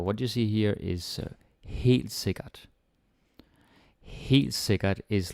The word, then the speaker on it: helt sikkert: So, this one is very good and it's easy to pronounce. You don't have any r or soft d's or any ø or æ or like anything difficult. Super easy.